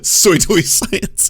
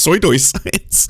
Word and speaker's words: pseudoscience: the government sponsoring people that's a really funny mispronunciation though soy toy science and it's i mean it's just it's funny because he engages in it he does pseudoscience all the time so for him to do that i mean i think it's pronounced soy science yeah one part soy two-part science fantastically clandestinely to undermine people